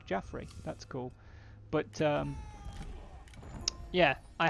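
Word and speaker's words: Jafrez: But I'm pretty sure since they're French that it would be pronounced Jaffrey, which, if that sounds like, hey, that sounds kind of familiar, I'm pretty sure that's because it's the early French or Breton name for Joffrey, as in King Joffrey.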